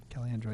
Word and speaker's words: Caliendo: Resolved, the Old Town City Council hereby approves an application from Tim Caliendo, is that how you say it? Caliandro, yep.